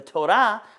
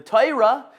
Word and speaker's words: Torah: this life is done the Torah the toyra depending on how you pronounce it it talks about